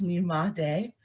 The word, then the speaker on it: Nyemade: As she mentioned, my name is Nyemade is the full name. When you first see it, it looks a little intimidating, but it's just three syllables, Nyemade.